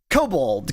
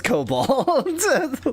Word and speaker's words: kobold: Kobold. Kobold. Yeah, it's kobold, not kobold. No, when we looked it up, it was both. When we looked it up, it was both, but the origin was kobold.